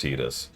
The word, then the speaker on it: Tidus: Yeah, what's funny is it makes perfect sense why it's pronounced Tidus. But by total coincidence, it actually perfectly fits as Titus in English, because tide. But that only really applies in English.